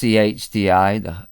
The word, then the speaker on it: chdi: It's CHDI. The CH is one letter, and then D, and then it's pronounced just like the one, like it's a cup of tea, but D.